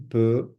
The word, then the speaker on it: peut: You've got the X, the T, je peux, tu peux, il peut. Again, the X, and the T are not pronounced at all. It's as though they're non-existent.